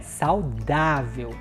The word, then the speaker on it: saudável: saudável Olha só saudável Qual é a sílaba mais forte é o da né saudável o ar aqui também é uma mais aberto né olha saudável então